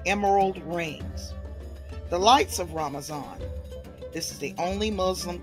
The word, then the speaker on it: ramazan: ramazan in Turkey uh Turks pronounced Ramadan ramazan so I'm going to read